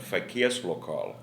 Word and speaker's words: Verkehrslokal: My grandfather had the restaurant that was, and I pronounce it with a Dortmund accent, that Verkehrslokal of the BVB in the 1950s.